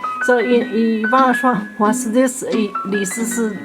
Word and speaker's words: Li Shishi: This is Li Shishi, Li Sisi. In Chinese pronunciation is called Li Sisi.